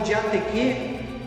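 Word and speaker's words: διαθήκη: E esta palavra aliança, também no original grego, que é pronunciado como diateque, ela também pode significar como um contrato, como um concerto, como um testamento, como um pacto.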